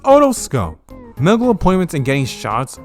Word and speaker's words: otoscope: The otoscope. It's pronounced otoscope.